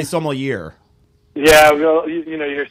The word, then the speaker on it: sommelier: guys for having me Jason are we pronouncing that correctly Somali yea Somali yea yea that uh yes not Somalian or I've also heard people say so more year yeah well you know